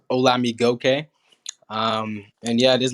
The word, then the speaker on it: Olamigokey: butchering my last name it's pronounced hola me gokey um and yeah it